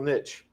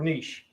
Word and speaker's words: niche: It's called ecological niche or niche. Either pronunciation is fine.